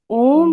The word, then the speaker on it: ओम: ओम का उच्चारण करेंगे ध्यान रहे ओम का उच्चारण करते समय अ से दुगना टाइम ओ में और ओ से तिगुना टाइम मा में लगना चाहिए ओ